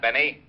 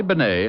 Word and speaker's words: Bennett: It's pronounced Bennett, not Benny.